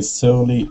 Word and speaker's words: surely: Yeah, the S-U, strangely enough, is pronounced like shall is. Sure. Surely. Sure. It's one of those crazy English words where it doesn't follow the rules.